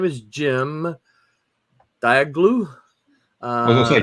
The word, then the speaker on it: Cem: Would you have said Jim if that's what you saw right there? CEM. Wait. Oh, really? That's Jim. That's pronounced Jim. Jim.